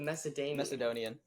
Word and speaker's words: Macedonian: I don't actually know how you pronounce that. The kingdom of the Macedons. The Macedonian.